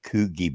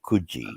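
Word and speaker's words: Coogee: at randwick which is you've probably heard of a place called kuji Beach Americans say Coogi Beach it's called kuji C double o g double e oh so that's how you say that okay well that well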